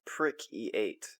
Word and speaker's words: PRC-8: commo device called a PRC-8 pronounced prick-E8 or E7 actually.